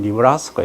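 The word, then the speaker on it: Nebraska: 그래 주로 이제 서부 쪽, 동부 쪽, 남쪽 이런 쪽에서 작물을 재배하고, 중부 이제 일부 네브라스카, 영어는 니브라스카 이렇게 발음하는데, 거기 사우스 다코타, 노스 다코타 이런 쪽에 해서 미조리, 오하이오 이런 쪽에서 주로 작물을 재배하고 있다 이거죠.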